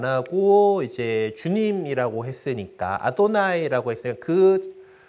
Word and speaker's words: 아도나이: 그냥 그거대로 읽지 않고 이걸 갖다가 주님에 해당하는 아도나이라고 하는 단어를 그로 발음을 대신하게 됩니다.